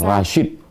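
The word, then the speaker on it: Rasjid: Rashid. J itu Y dalam ejaan lama.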